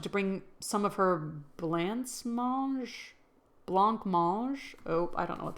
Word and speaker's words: blancmange: It's a European blanc mange. Mange is eat. Okay. jelly-like treat thickened with gelatin. Let's do pronunciation. Blancmange. Oh, blancmange. Words. A blancmange. Meg wanted me to bring some of her blanc lamage.